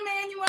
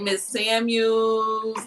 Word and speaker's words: Emanuel: Thank you for saying my name correctly. Ms.Emanuel, they messed that up? People be messing that up. What do they say? They be like Miss Samuels. They be like Manuel. I don't know.